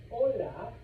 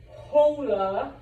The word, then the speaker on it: hola: If you see an H in Espanol, do not pronounce it. That is why I say hola to you guys and not hola.